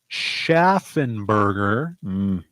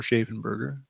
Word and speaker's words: Schaffenberger: Art by Kurt Schaffenberger or Schaffenberger. I've heard it pronounced both ways.